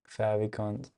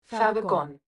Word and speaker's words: favicon: Favicons. How do you even so favicons, how do you pronounce them? That's what we're gonna start with. Favicon.